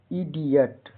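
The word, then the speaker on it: idiot: एन ओ इत्यादि जुड़ा हो तो आई का उच्चारण साधारणतः आई होता है। जैसे आई डी आई ओ टी, इडियट।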